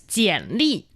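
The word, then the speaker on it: 简历: That's jiǎnlì.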